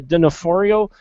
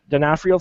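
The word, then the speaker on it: D'Onofrio: Vincent uh Denafhorio uh Denafhrio. Thank you. I always mispronounce that.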